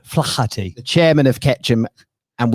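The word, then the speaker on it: Flaherty: chairman of ketchum rob flafferty as i was told i think it's flathead there we go yeah the silent is a silent h flachati the chairman of ketchum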